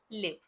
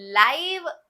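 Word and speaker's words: live: Number 1 जो pronunciation है वो है लिव, जीना।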